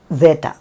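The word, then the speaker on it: ζήτα: ഇത്. സീറ്റ, സീറ്റ എന്നത് 'z' ശബ്ദമാണ്, 'മൃഗശാല'യിലെ പോലെ. അതാണ് സീറ്റ.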